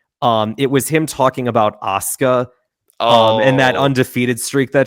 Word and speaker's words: Asuka: Asuka is her name. Literally, he pronounced Asuka's name Ahsoka, but just long-winded.